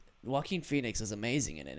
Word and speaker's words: Joaquin: It's spelled Joe Quinn, though. Joaquin. Oh, so I always had to hear it first before I say it.